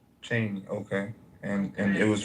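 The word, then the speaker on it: Cheyney: I believe that's what he was trying to pronounce. Yeah. Yeah. Yeah. It's called Cheney. Cheney.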